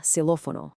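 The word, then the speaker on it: xilófono: The familiar kiss sound when it's inside a word, like in sex, but it's pronounced like a simple S sound when it's at the very beginning of a word, as in silophono.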